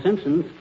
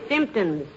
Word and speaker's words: symptoms: Got all the Simpsons. The word is symptoms, dearie, with the emphasis on the first syllable.